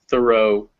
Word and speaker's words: thorough: them in colors so all the ones in yellow those ghs are silent so bao do thorough through they end in